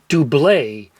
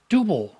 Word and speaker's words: Double: Here in the US most radio DJs would call this group Dooblay as if they were French And some would just say double but it's actually supposed to be pronounced dooble "Is it...